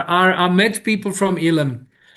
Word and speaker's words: Elim: How do you spell that tone? Ilim. E L I M.